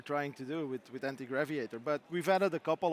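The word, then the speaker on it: Antigraviator: So, the game anti-graviator, I think I'm pronouncing that right. You are right. Yes. Anti-graviator. It's not anti-graviator. You don't have anything against.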